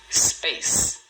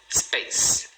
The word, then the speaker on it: space: Space. Space. Também 1 sílaba. Space.